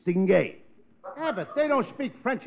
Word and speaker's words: distingué: In French, certainly. That French, you see, the French change the last two syllables. In English, it's distinguished. In French, it's stingé.